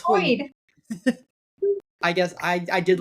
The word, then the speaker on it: Hoid: Hoyd? Oh, it's Hoid.